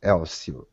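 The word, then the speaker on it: Hélcio: Yes, yes, you pronounce it without H, Elcio.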